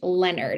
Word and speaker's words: Leonard: And it is pronounced Leonard.